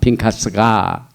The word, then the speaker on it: Pinchas: 제사장 아론의 손자 엘아살의 아들 핀카스가 나의 질투심으로 질투하여 이스라엘 자손 중에서 나의 노를 돌이켜서 나의 질투심으로 그들을 진멸하지 않게 하였도다.